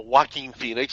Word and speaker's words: Joaquin Phoenix: Yeah, so Joaquin Phoenix. It's almost like you're saying Walking Phoenix, but yeah, as far